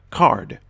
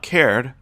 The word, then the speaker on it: card: So again, it will be pronounced short, card. Not cared, but card.